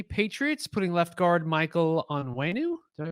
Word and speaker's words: Onwenu: Patriots putting left guard Michael Onwenu. Did I pronounce that right? Yeah. Okay. Onwenu.